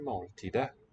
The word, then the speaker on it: måltidet: Neuter noun here for meal. We eat the meal. Vi spiser måltidet. With a silent T again.